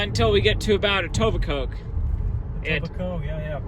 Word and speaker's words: Etobicoke: Until we get to about Etobicoke. Etobicoke, yeah. Silent K on Etobicoke.